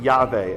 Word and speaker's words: Yahweh: in 450 who says the Samaritans pronounce it yave and they said oh